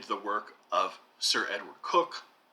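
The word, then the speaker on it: Coke: work of sir edward cook spelled c-o-k-e pronounced cook one of the greatest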